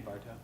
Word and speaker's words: Barto: How do you pronounce his name correctly? Rich Sutton, and then it's Andy Bartow.